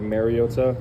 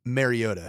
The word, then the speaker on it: Mariota: People have called him Mariota. It it's not it's not as though he is a plumber in an N64 game. He kind of gave pronounced Mario. There's a little T in there.